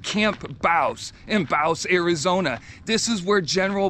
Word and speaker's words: Bouse: have arrived at camp baus that's what the locals say that's how you pronounce it camp baus in bause arizona this is where